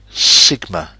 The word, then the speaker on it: sigma: It's written like this and it is pronounced sigma.